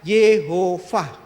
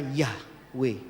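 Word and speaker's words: יהוה: Yod, sewa, he, vav, he. Di bawah huruf W itu baru ada tanda kamats. Jadi kalau dibaca berdasarkan nikut tanda bacanya apa adanya literal, YHWH di seluruh Alkitab Ibrani hanya terbaca Yehovah. Tidak mungkin dibaca Yahweh.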